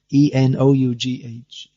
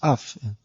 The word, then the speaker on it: enough: And then E-N-O-U-G-H, enough. So it's not cough, it's not off, it's uff. The O-U-G-H becomes uff, and then S-L-O-U-G-H becomes slough.